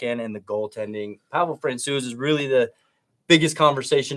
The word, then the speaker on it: Francouz: Also, I've noticed I say Francouz, you say Francouz. Jared Bednar says Francouz. Yeah, I know. I said that, and I was like, I thought we already settled on a soft C there.